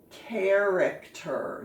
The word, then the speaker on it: character: right and this one there's the ch that says k character now we really haven't